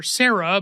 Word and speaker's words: Cera: A family of Triceratops watch the hatching of their daughter Sarah, but it's spelled Cera, as I mentioned, like in Triceratops.